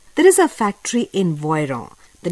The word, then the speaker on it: Voiron: in the alps there is a factory in voiron the name of the city is spelt as v-o-i-r-o-n or in english v-o-i-r-o-n this city voyron is nearby these mountains of alps which produces